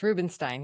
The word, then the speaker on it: Rubinstein: I'm your host Atul Raj and our today's guest is Rubenstein. Did I pronounce that right? Very close. Rubenstein.